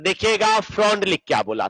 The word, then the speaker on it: Freundlich: तो देखिएगा फ्रॉन्डलिक क्या बोला था। यहां पर FREUNDLICH, इसका स्पेलिंग थोड़ा उल्टा सीधा है ना, विदेशी सब है।